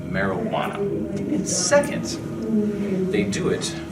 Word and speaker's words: marijuana: What is this Mary do you wanna? Tell me, what's your name, little girl? Caden, sir? Well, Caden, first it's pronounced marijuana.